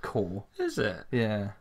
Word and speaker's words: Corps: the realms of the army Co RPS is pronounced core and landstalker so those are your 10 games